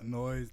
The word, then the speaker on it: NOIISE: And it's easy to say NOIISE, one syllable.